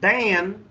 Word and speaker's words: ban: La pronunciación correcta es el A, el primer sonido del color chart, ¿verdad? No A, pero A, es ban.